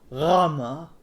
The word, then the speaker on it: Gamma: So the Greeks call it, or the correct way to say it is Rama. Rama. Sounds much cooler and has a new sound that Americans can't say. Rama. Rah. Rah. Sounds like the French are.